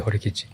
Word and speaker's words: Horikichi: If I'm pronouncing it right, it's Horikichi. Yeah, Horikichi. Yes.